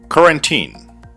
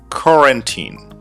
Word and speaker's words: quarantine: Quarantine. Quarantine. Guys, this is the correct pronunciation of this word. The stress on the first part. Quarantine.